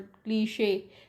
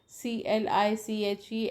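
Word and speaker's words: cliché: I told you that why this word is mute, why this word क्लीशे, CLICHE and NICHE. तो in cliche one case CHE is pronounced as she, and niche same CHE is pronounced as sure.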